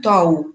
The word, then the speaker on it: тау: Например, если мы возьмем тау, да, последнее слово, ударение падает на у.